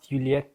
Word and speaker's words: Yulieth: Is it actually Yulieth, for real now? I don't know how to pronounce that in Spanish. I don't know yet how to pronounce it. We still need to ask Philipp. Actually, you say ulieth.